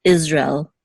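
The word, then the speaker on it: ישראל: in the word Israel in Hebrew it's Israel Israel it's almost as if it's two separate words even though in English we kind of slurred together we say Israel right but in Hebrew it's Israel now we'll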